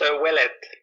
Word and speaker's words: Ouellet: is that how I pronounce it? Is it Ouellet? It's Ouelett. Ouellet.